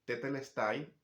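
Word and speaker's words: τετέλεσται: Y que diga eso, consumado es, que en griego es tetelestai, así se pronuncia en griego. Bueno, no sé si está bien pronunciado porque hace muchos años no hablo griego. Bueno, pero la cosa es que tetelestai es la palabra y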